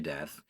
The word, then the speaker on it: Deth: technically prudence will amina death and my reader will pause while i quickly address the potential listeners from this ever being audiobook to note that it is spelled d-e-t-h without an a readers please rejoin us